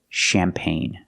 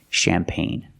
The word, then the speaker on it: champagne: see this word champagne you have an e at the end but the E is silent and the g is silent too pronunciation champagne remember it's from French